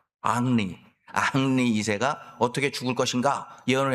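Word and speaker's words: Henri: 이 사람이 예언집을 폈는데 여러 예언을 했는데 그중에 대표적인 예언 3가지 살펴보면, 첫째는 프랑스 왕 헨리 2세, 프렌치 발음으로 앙리 2세가 어떻게 죽을 것인가 예언을 했는데, 그 근위병들하고 마상 경기라고 있잖아요.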